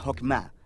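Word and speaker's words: חכמה: Qué es esta fuerza en hebreo se pronuncia hokma y usualmente se traduce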